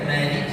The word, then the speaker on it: مالك: كلمة مالك يوم الدين الكاف تحتها كسرة. Kalimat Maliki Yaumiddin pada huruf kafnya itu terdapat kaf yang dibaca kasrah. فكثير من الناس ينطقها ساكنة مالك يوم الدين. هذا خطأ كبير ويبطل الصلاة.